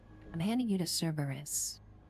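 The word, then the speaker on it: Cerberus: I need to pronounce that name. I keep saying Cabus, but that's not the way to say it. I'm handing you to Cberus.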